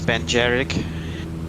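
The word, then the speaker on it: Beinn Dearg: dottorel and golden eagle i think the pronunciation is ben jerick really i would never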